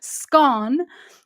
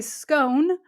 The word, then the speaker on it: scone: and those who say scone rhyming with cone according to a survey the majority of Brits 60% pronounce it to rhyme with gone okay have I thoroughly